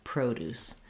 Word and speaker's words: produce: like fruits and vegetables we just stress on Pro and then we still have Deuce produce so we're going to produce